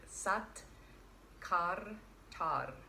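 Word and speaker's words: Sat Kartar: So it looks like Sat KARTAAR, but that's not how we pronounce it. Sat KARTAAR.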